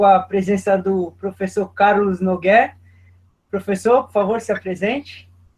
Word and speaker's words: Nougué: presença do Professor Carlos NOG professor por favor se apresente Muito obrigado primeiro desculpe quero esclarecer como pronuncia meu nome né é fechado é um nome francês n só uma bobagem